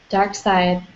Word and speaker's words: Darkseid: Dark Side. Sorry. Yeah. I always pronounce it like I read it.